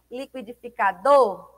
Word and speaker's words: liquidificador: Qual é a mais forte? Liquidificador. O do emite com maior intensidade, né? Tem maior ênfase aí dentro dessa palavra. Então, por ser a última sílaba aqui, a sílaba tônica do seria a palavra liquidificador, então seria uma palavra oxítona, porque a última sílaba é a sílaba mais forte.